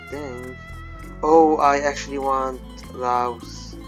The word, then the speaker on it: Laos: Oh, I actually want Laos. Lao, yeah, it's pronounced Lao.